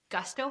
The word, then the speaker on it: Gusto: Gusto.